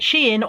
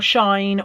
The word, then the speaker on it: Shein: I was quite pleased with this one because it's only I can never decide whether to pronounce it Shein or Shine or Shane or whatever. Anyway, I think it's pronounced Shein.